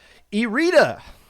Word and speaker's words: Irida: Irida, not iRide, because I listened to the Moray Tavern podcast when this team was on, and it's pronounced Irida, even though it looks like it's iRide, IRIDE.